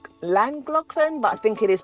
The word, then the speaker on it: Llangollen: Llangollen. A lot of people call it, say, Llangollen, but I think it is pronounced as Llangollen.